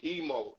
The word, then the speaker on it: Imo: uh uh African names emo is for Swahili that's why I spell IMO but it's pronounced e-m-o because it's Swahili that I sound like